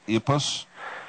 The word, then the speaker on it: IPUS: involved with I I I think it's pronounced ipus IP us it's ipus ipus and what does